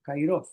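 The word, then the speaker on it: καιρός: la pronuncian como cairov.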